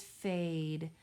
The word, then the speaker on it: fade: I hear the long A saying A, and I see a silent E on the end that is not pronounced. Our next word is fade.